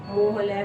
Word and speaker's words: Mohol: रचना मोहल, मैं आपका नेम सही प्रोनाउंस कर रही हूँ। RACHANA मोहल, MOHOL।